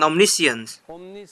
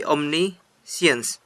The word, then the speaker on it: omniscient: tahu segalanya bukan bukan omissions omniscient maha tahu pengucapannya bukan ini siang tapi Omni sense omni-heat jadi dia adalah